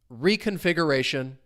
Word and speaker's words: reconfiguration: Stress comes on the second to last syllable. Another quick little pronunciation hint. When a word ends in t i o n, the stress syllable is going to come on the syllable before it. So reconfiguration. And you can kind of hear that stress.